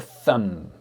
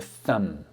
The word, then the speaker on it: thumb: This one, the first one is called the thumb. The thumb. Do not say the thumb. You do not pronounce the B.